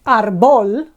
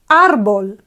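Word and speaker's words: árbol: consonant L and yet we don't say Arbol a tree in Spanish is not Arbol it's Arbol okay so normally we would expect ball to be the accentuated syllable okay but it's not it's Arbol and because that means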